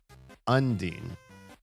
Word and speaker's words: undine: Unin undine with the emphasis on the un.